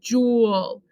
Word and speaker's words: joule: it's like kami shibai this says jewel jewel and that's how you show